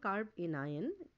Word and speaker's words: carbanion: It is called carb anion, and when together you pronounce, you call it carbanion.